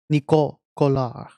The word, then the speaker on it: Nico Collard: Nico Collard. That's how you say her name in France. In French.